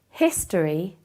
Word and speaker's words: history: But the H in history is pronounced like a consonant, so it is a history.